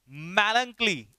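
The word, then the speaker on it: melancholy: मैलंकली, इसका प्रोनाउंसिएशन क्या है, मैलंकली, क्या पढ़ेंगे इसे, मैलंकली।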